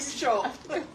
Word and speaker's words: Xu: yeah Burlington Zoo what how do you say it uh Sho who Sho XU like sh sho yeah Sho we like